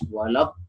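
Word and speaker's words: ولا الضالين: Nah, cara membacanya harus dipanjangkan selama 3 kalimat tabi'i atau 6 harokat. Contohnya pada kalimat waladdallin. Dallin. Dipanjangkan, kemudian diikuti dengan tasydidnya. Jadi tidak boleh tidak ada suara tasydid.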